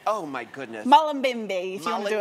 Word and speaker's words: Mullumbimby: Now tell everybody where you're from, where the town, because I can't pronounce it. Mullumbimby. Oh my goodness. Mullumbimby, if you want to do it the way you do it. Mullumbimby.